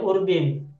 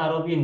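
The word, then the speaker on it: عَرَبٍ: Muhammadun say Nah ada yang bacanya urbin sebenarnya bacanya arabin Ya Arin Win ajamin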